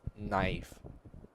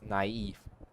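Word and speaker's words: naïve: me on where the the double dot on the top on top of the vowel is to denote a completely separate pronunciation from the a in front of it. So it's not you don't pronounce it as knife not it's naive.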